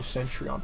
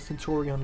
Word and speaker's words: Centurion: The whole sentryon package. Okay. So, sentry on white forest. Centurion. Sorry, not like saying central cuz it's a little bit faster, but Centurion, that's how you actually pronounce it.